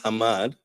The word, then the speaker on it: Hammad: But it's still in many cases, people will not really pronounce Hammad as Hammad, and they will pronounce it Muhammad.